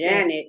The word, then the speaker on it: Jeanette: Janet is how they say it, but they say that Jeanette is a spelling.